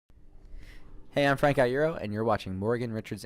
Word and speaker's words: Frank Iero: Frank Iero. Thank you very much. That was a really good pronunciation of my name, by the way. A lot of people don't get that.